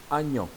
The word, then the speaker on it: oignon: Aujourd'hui, quand on prononce le mot, on dit agnon. Hein, de nos jours, on dit agnon. Donc la première voyelle A, on prononce A. Et la deuxième voyelle, qui est A aussi avec l'accent circonflexe, on dit O. Donc agnon.